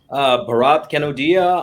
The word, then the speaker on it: Bharat Kanodia: Bharat Kanodia.